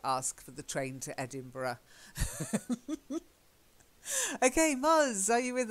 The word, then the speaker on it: Edinburgh: you'll find it and a lot of people say Edinburgh but it's not Edinburgh of course open bar or